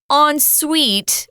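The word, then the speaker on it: en suite: has a bathroom included as well yeah it's pronounced on Suite which is weird I know because it it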